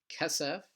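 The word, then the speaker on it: כֶּסֶף: Next word is kesef, which means silver or money. You notice that this word is also stressed on the first syllable.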